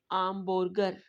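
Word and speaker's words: hamburger: next word है आका, आका, आका में इस वर्ड में एच जो है वो साइलेंट होगा, तो हम कहेंगे आका को में आमबर्गर, क्योंकि हम यू को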